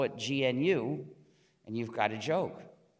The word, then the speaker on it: GNU: print pronounce the name gnu and avoid the various erroneous pronunciations such as new and linux when people